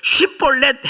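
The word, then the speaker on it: שיבולת: 근데이 시벌렛의 앞자가 이게 원래 히브리 말은 쉬요. 쉬. 근데이 사투리는 쉬이 안 돼 갖고 스라고 발음을 해요. 그러니까 원래 본토 표준로 이제 하는 거죠. 쉬볼렛 해 봐.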